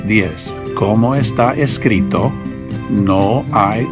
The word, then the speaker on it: diez: three is pronounced trace the ten is pronounced Diez so let's say